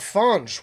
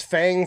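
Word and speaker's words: Fange: Then we have Fonge with Perdition. It was pointed out to me that I've been mispronouncing this band's name as Fang for a while, but these are my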